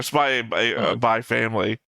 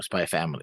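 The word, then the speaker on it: Spy × Family: and everywhere now again I've never heard anybody say spy by spy or spy by family or spy family wait I've heard people say spy family because that's in the the same nomenclature of not saying the X but I have always said the X because it's in the name there's a it would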